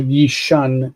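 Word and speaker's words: יִישַׁן: That's a long syllable there. That's why it's marked with double yod.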